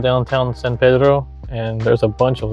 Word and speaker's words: San Pedro: I said San Pedro, which is the way it should properly be pronounced, San Pedro. But you may notice that a lot of the locals local to Los Angeles call it San Pedro, which I can't willingly bring myself to say,